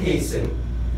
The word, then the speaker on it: hasten: No T is heard in fast and hasten, which make them rhyme with arson mason.